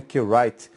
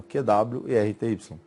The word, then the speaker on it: QWERTY: Algumas pessoas pronunciam, né, QWrite, mas aí são simplesmente as letras iniciais do teclado, ó, QWERTY, tá certo?